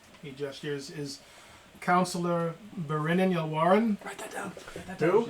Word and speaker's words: Berinin: He gestures I to thought the you said his name was Grinnin. Berinin. Oh, Berinin. Okay. Berinn. It's like Brennan, but it's like With a B.